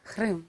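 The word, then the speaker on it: Qırım: б почати з того щоб ми навчилися правильно вимовляти кримськотатарською А ну давай Навчи нас хрим-хрим хрим хрим-хрим хримм от Супер Клас І дуже співчуття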